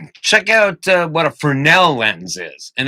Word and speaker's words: Fresnel: out uh what a fresnel lens is and that's spelled with an s so you might say fresnel but uh a fresnel lens you shine a light